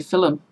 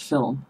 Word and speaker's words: film: bye said theater lilac I also grew up seeing film until my husband pointed out that there is not you between the L and the M it's film okay so I do